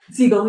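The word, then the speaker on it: Segel: Seagull.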